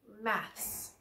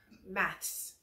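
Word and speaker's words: maths: is math here math in America we just say math so this one maybe I will accidentally say math sometimes in Britain they say Max and it's a sound we practice this with Jolly Phonics though and your tongue must be between your teeth math Matz say it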